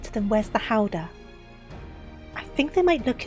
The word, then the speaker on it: Gouda: I think it's supposed to be pronounced Howder. What, the cheese? It's not Gouda.